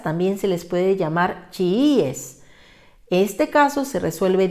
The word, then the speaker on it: chiíes: por tanto diría chiíes para que diga chiíes hay que colocar una tilde en la iv y de esta manera